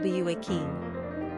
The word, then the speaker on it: Joaquin: Pronunciation, Joaquin.